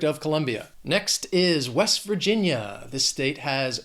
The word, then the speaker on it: Virginia: 3 syllables, stress is on that second syllable, Virginia, Virginia. And an expression with this state, people say Virginia's for lovers.